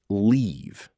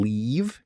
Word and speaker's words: leave: Let's look at live, to reside, and leave, to depart. The I in live is short, like in sit, while the EA in leave is a long E sound, like in sheep.